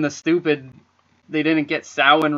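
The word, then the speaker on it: Samhain: yeah oh and the stupid they didn't get sowing right he wrote sam hayne on the production of the pronunciation of santa yeah and they're calling it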